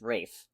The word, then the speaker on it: Ralph: main guy in it I'm pretty sure it's pronounced Rafe wait really yeah huh